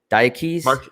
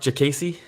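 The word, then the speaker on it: Diakiese: How do you pronounce this? Diakese? Mark Jacasey. Jacasey? It's like a J then? Jacasey? No, Jacasey. Jacasey.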